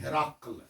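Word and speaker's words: هرقل: یہ اردو کے اندر ہا کے زیر کے ساتھ ہرقل پڑھا جاتا ہے, عربی اس کو پڑھتے ہیں ہراقل. ہرقل یہ عربیوں کا تلفظ اس کا ہرقل ہے.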